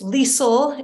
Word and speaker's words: Liesl: It's Liesl. It rhymes with diesel, if that helps.